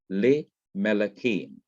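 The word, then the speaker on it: למלכים: The simple schwa under lameth has to be lengthened to the short I sound, A, the short hirik or kirik. So you have le Melakim, to kings.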